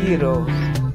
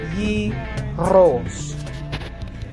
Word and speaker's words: gyros: Hi guys, today we're making chicken gyros. I'm not pronouncing it right, you have to roll the R. Chicken gyros.